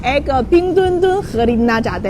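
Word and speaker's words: 冰墩墩: ये Beijing सरमाई Olympic के वो कैसे कहते हैं वो खुसूसी कोरिया है और इसका नाम है पिंगदुनदुन। आप सही तौर पर प्रोनाउंसिएट कर सकते हैं।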